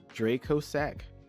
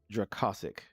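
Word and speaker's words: Dracossack: how do you uh i've heard this pronounced mecha phantom beast draco sack um but this word classic it's kind of one so mecha phantom beast dracasic um it's probably how that's pronounced like i just i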